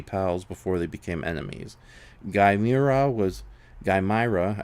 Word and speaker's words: Gaimira: Gaimira, I kept saying by the way, I kept saying Gamira's name wrong last week.